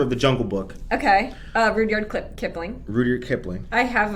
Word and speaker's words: Rudyard: I used to pronounce it Rudyard. It's Rudyard. And then this dude this dude was Rudyard. He was like, I'm disappointed in you, man. With your vocabulary, he was like, it's Rudyard. But there was people around.